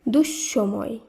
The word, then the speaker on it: দুঃসময়: একইভাবে দুঃসময় এই শব্দে বিসর্গের পরে রয়েছে দন্তস তাই শুদ্ধ উচ্চারণে দন্তস দুবার উচ্চারিত হবে তাই শব্দটি শুদ্ধ উচ্চারণ হবে দুঃসময় এই সূত্রেই নিঃসঙ্গ নয়